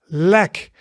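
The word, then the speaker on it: lek: Then we have the so that is leg, leg. And leg means a leak, right? So it's the sound. So as in set, but shorter.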